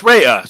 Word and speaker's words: Raya: stuff you know so is it so it's Raya so I was saying it right see Ray